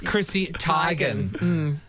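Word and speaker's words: Chrissy Teigen: you say Chrissy tan by the way is Chrissy tigan that one I believe yeah yeah yeah and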